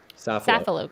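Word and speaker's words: Safilo: italian eyewear company called is it sophillo group that's how you say it saffilo group okay i want to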